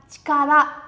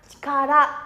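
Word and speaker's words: 力: Sẽ đọc là chikara, âm vô thành này, nhớ nhá. Chikara, minasan sẽ nó chikara.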